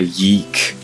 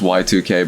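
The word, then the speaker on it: YIIK: That one game that came out, a Yeek, or it's supposed to be pronounced Y2K, but everyone pronounces it Yeek.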